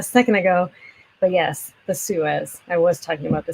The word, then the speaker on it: Suez: yes i am talking about that suez it's pronounced suez thank you suez you guys are great okay